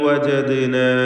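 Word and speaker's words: وجدنا: ബൽ വജദ്നാ, ഇതിൽ വജദ്ന എന്നതിലെ ദാലിൻ്റെ സുക്കൂൻ ഖൽഖല സുഗ്റ നൽകി ശബ്ദം ഹറക്കത്ത് പോലെ ചലിപ്പിക്കണം.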